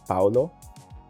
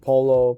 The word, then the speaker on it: Paulo: Uh Well, it's Okay, like locally people pronounce my name like Paulo.